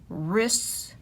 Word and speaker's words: wrists: r or sound and we don't hear the w is right wrench wrists rapping wrong and wrinkles